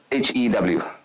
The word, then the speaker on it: Hew: HEW. HEW. Yeah, like to cut and hue. Rhymes with you.